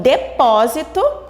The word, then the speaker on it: depósito: Então, depósito, a sílaba mais forte, que é pó, está na posição de antepenúltima.